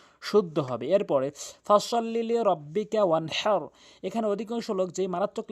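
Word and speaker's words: وَانْحَرْ: এখানে ওয়ান হার বলতে হবে, হাটি হলকের মাঝখান থেকে উচ্চারণ করতে হবে।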